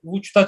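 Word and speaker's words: Łódź: Daha sonra ilk kez eserin tamamını Vuç'ta çaldım. Vuç'ta yine bu Vuç Lodz aslında. Lodz şehri Vuç diye okunuyor Lehçe'de. Çok enteresan bir dil. Bütün harfler değişik okunuyor. Herkes Lodz diyor Türkiye'de ama aslında Vuç diye okunuyor.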